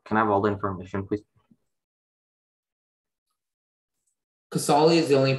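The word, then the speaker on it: Casale: uh can i have all the information please casoli is the only pronunciation it's a noun it comes from an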